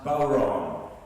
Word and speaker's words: bodhrán: I was playing the Irish frame drum, the bodhrán. The bodhrán is spelled B-O-D-H-R-A-N, but it's pronounced bodhrán.